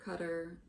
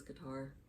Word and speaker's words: Qatar: chair he lives on qatar or cutter he says cutter so i'm guessing that's the correct pronunciation but here in the states everyone says guitar and so he never